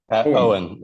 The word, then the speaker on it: Owen: don't want to mispronounce so Owen o Wen you can pronounce it like that so one of the